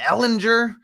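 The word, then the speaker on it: Ehlinger: Ellinger, yep.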